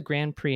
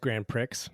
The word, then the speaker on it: Grand Prix: Fritz de Quervain win the Grand Prix in Paris, and how did he win it? Well, so it's pronounced Grand Prix. Mm-hmm. So I just want to correct you on that.